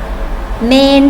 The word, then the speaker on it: เมรุ: สมาธ นั่ง ขัด สมาธ เมรุ เผา ศพ เห็น ไหม คะ เรา ไม่ ออก เสียง จะ ระบุ ตรง นี้ มร ออก มา เลย นะ คะ ออก เสียง เหมือน แม่ ควร สะกด ค่ะ เมรุ เผา ศพ ที่